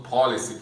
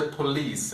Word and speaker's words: police: quando está aprendendo inglês, acaba falando policy, que dá a impressão de ser uma outra palavra. Na verdade, a pronúncia é bem simples, né, é praticamente a mesma coisa que no português, só que sem as duas últimas vogais. Então, no português é polícia e no inglês é police, é só você eliminar essas duas vogais.